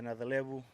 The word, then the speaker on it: Nayacalevu: My name is Waisea Nayacalevu, and I'm from a small village in Fiji called Sanro, and it's in the Serua province.